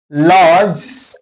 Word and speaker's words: lodge: Lodge, here lodge, L-O-D-G-E, lodge. Okay, here D is silent.